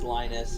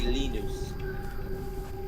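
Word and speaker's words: Linus: you know, because like uh in America it's Lionus, in Britain it's Lennis. And he goes, "Well, if you were to say my name in Finnish, it would be Lenus."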